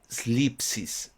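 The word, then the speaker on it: θλῖψις: Y esta palabra tribulación viene de una palabra griega slipsis. Slipsis con ds. Al principio, difícil de pronunciar.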